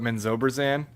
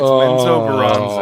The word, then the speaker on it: Menzoberranzan: My buddies who I D&D with, they I'm pretty sure to this day they still call it Menzoberran. And I'm like, it's menzoberranzan. Oh, It is. boy. It is menzoberranzan.